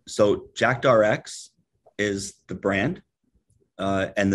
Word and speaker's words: JAKTRX: it's under this new brand can you please pronounce that for our audience all right so jackdrx is the brand uh and the new product